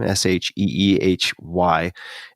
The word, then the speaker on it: Sheehy: Passages, and I think it's Gail Sheehy. Is that how you pronounce the last name? Sheehy.